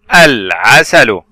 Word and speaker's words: العسل: ال هنا ال القمرية، تنطق يوجد عليها سكون بعد حرف العين من حروف اللام القمرية. ال ع عين فتحة ع، ثم سين فتحة س، ثم الحرف الأخير لام ضمة لو. إذن كلمة العسل. لاحظ الصور التالية، ترمز إلى ماذا هذه الصور؟